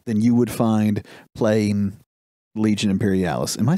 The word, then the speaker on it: Legions Imperialis: Gunfighter's Ball than you would find playing Legion Imperialis. Am I saying it right? That's what it is, right? Yes, Legions Imperialis.